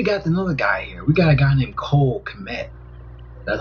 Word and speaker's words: Kmet: We got a guy named Cole Kmet. That's how you pronounce his name.